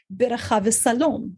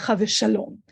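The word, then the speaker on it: שלום: first Congregation of suram was called salom that's the Portuguese Hebrew pronunciation of what today in modern Israeli Hebrew we would say shalom so you can see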